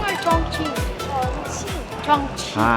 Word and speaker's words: Chongqing: Lia, is it Chong Ching or Chong Cching? Chongching. Chongching. Ah, Chong Ching. Ang tamang pronunciation.